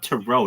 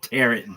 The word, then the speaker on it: tarot: this it's dude it's it's called tarot. Nobody calls it terret, dude.